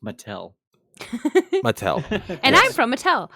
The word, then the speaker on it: Mattel: I believe it's pronounced Mattel. Mattel.